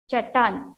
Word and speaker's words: चट्टान: ट हाफ, ट फुल, आ की मात्रा, चट्टान. T is slanting line means half T. Okay, you have to pronounce it together. T half, T full. Press it and pronounce.